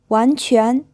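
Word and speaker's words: 完全: 完全 This is pronounced in 2 second tones.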